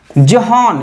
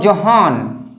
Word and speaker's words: Johann: ग्रीगर जॉन Mendel, ग्रीगर जोहान, इसको मैं पढ़ता हूं जोहान, because we आर नॉट